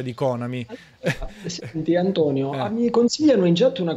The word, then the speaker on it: Konami: con amici dice allora la pronuncia corretta e konami quella vera proprio in italia si dice anche konami tranquillamente un po come sega